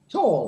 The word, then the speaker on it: tall: Chicos, no lleguen ni siquiera a la L con tall. Tall. He's a very tall guy. Can you hear the L in me when I say this?